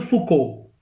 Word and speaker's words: Foucault: the works of Michel Foucault. Michel Foucault का मैं नाम बता चुका हूँ, MICHEL FOUCAULT. Foucault को हम लोग Foucault pronounce करते हैं.